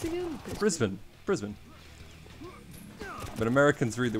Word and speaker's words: Brisbane: finds out i'm australian wait how is it pronounced again brisbane brisbane but americans read the word and they go brisbane i don't know our kansas arkansas nobody even